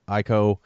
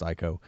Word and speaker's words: Ico: I loved Ico, or Eco, I think it's pronounced Ico, and Shadow of the Colossus.